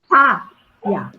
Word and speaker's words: sábia: Para mim é o sá. Sábia. É a sílaba mais forte.